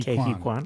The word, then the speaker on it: Ke Huy Quan: Right, I just totally butchered that, didn't it? Ke Huy Quan. How do you say that? Ke Huy Ke Huy Quan.